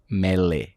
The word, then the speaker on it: Mele: Morra, na palavra em português mesmo, Morra Aarons, com 2 As, Mele, M-E-L-E.